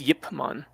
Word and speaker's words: Ip Man: It was I guess the Chinese pronunciation was Yip Man.